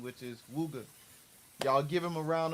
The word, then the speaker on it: Wuga: And I know I be mispronouncing his name, but I like I like Wugger so much, but I want to get it